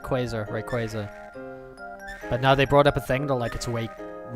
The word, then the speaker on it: Rayquaza: They're like, it's Rayquaza.